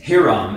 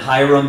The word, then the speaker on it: Hiram: So Mallory is pronouncing Hiram, and that's actually quite correct. You'll probably hear me go back and forth between that and Hiram, because that's the way I heard it growing up, and my family knows a guy named Hiram.